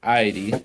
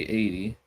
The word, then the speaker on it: Aidi: yeah i um well i say id some say 80. uh what what's the right way to say it well i think that's that's the thing there's no one right way to say it all depends on how you want to say it so it is a